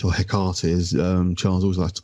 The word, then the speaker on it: Hecate: My personal thoughts about sort of things that the Friends of Hecate or Hecate, as Charles always likes to call them, which is a mispronunciation.